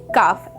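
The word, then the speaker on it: calf: सी ए एल एफ तो इसको हम कैसे प्रोनाउंस करेंगे काफ एल is silent here they feed there babies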